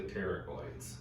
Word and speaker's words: pterygoid: Because I got to work the pterygoids and such muscles on the inside. And pterygoid is spelled PT, kind of like pterodactyl. You know, Oh, okay. the P is silent.